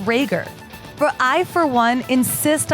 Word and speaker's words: Rager: a note about Sam her last name is spelled RA ger it's pronounced Rhaegar but I for one insist on calling her rager because how metal is